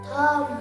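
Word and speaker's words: thumb: बघा be after M म्हणजे एम च्या नंतर इथे बी आलेला असतो तो बोलत नसतो तो असा गप्प राहतो कसा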